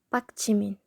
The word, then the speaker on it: 박지민: Giyak here is at the end of the syllable, but the next syllable is starting with a consonant, jiit, 박지민, as in the name of the BTS's member Jimin.